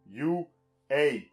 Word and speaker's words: U.A.: Le tout parce que c'est un jeu de mots qui n'est utilisable qu'en anglais, puisque ça se prononce You, A.